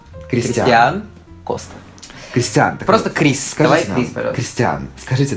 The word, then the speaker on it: Кристиан: так вот Кристиан Кстати я всё время путаю ударение в его имени Потому что раньше я называл Кристиан Ну потому что это как-то более привычнее но ударение всегда идёт на а кри Кристиан Коста Кристиан ри Кристиан